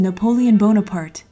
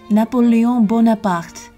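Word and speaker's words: Napoléon Bonaparte: a room dedicated to napoleon bonaparte well in french it's more like napoleon bonaparte so in front of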